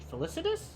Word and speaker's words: felicitous: First, a new order of priests must be recruited from the wise and the felicitous?